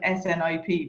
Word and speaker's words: SNP: we say that it's it's pronounced like snip but it's snp yeah